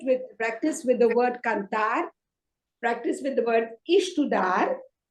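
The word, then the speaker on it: cantar: practice the conjugations okay just practice with uh kantar okay practice the conjugation with kardar you must have already learned the the conjugation this is it okay so you do it with practice with the word kantar practice with the word e s t u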